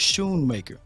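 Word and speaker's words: Schoonmaker: it show it's true it's Shoemaker that c is silent I appreciate you Sanjay so he's Shoon maker man you know us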